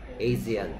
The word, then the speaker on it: Asian: 아시안이라고 발음하면 뭐 외국 사람들 잘 못 알아듣고요. Asian이라고 발음해야 돼. Asian. 뭐라고요? Asian.